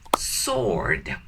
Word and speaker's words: sword: In sword, please never pronounce the word W, okay? So never, shh, don't pronounce W. Just say sword, okay?